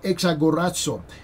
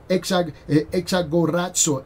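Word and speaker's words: ἐξαγοράζω: That word redeem in the Greek language is the word exagorazo. Exagorazo. Exagorazo. Okay, I'm going to spell it for you.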